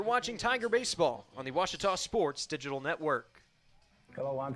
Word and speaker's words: Ouachita: for Washita Baptist University back in Texas everybody pronounces it Wichita but really it's Ouachita Washington how would you pronounce it off it's Ouachita Baptist University get it right it's Washington people let's